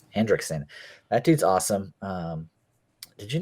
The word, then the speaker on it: Henriksen: How do you pronounce his last name? Henriksen. Hendrickson.